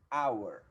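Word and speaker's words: hour: e a palavra our esse H que ele não tem o som do R não é comum aos esse H aqui é como o nosso H mudo então pronúncia desta palavra que é our certo então por isso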